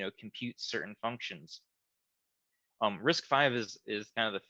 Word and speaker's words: RISC-V: more so what is risk five um when you read it it says risk v but it's actually pronounced risk five it's the fifth iteration